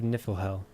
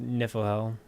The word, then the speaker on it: Niflhel: the map forest of niflhell i think it's pronounced niflhell like the norse god of niflheim so there's your trivia